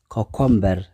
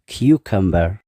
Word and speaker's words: cucumber: ማለት እዩ vegetable ካልኣይ cucumber ብዙሓት ሰባት cucumber ይብሉ እዮም እቲ ቁኑዕ ኣገባብ ግን cucumber እዚ እውን ሰለስተ syllable ኣለዎ እቲ stress ሕጂ እውን ኣብቲ ቀዳማይ syllable እዩ q stress ማለት ጽቕጥ ብለሉ ቦታ ኣብቲ ቀዳማይ ማለት እዩ cucumber እቲ ካልእ ኣፍኩስ ኣቢልና